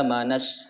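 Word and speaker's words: آمن الناس: Amanas. Jadi di sini bunyinya adalah dari nun ke sin. Alif lam di tengahnya itu seolah-olah tidak terbaca, padahal ada.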